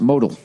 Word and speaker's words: modal: Um, no, Modell is pronounced modal. MeUndies is made from modal.